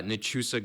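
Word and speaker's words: Nachusa: So how do you pronounce that again? uh Nusa Grasslands Preserve.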